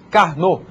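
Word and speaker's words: Karnaugh: esse nome esquisito aí a gente pronuncia carn é carn era um era um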